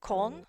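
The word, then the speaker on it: Köln: Oh, so you pronounce it con and a bit different. Oh, okay. It's It is cold, but all all one syllable as opposed to we make it two.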